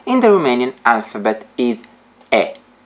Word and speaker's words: E: the Romanian alphabet is e it is pronounced like e in exit exit the target vocabulary